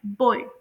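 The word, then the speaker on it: boy: इसे प्रोनाउंस किया जाता है बॉय नॉट बॉय बल्कि बॉय आप लोग इसे ओय कहकर प्रोनाउंस करते हैं।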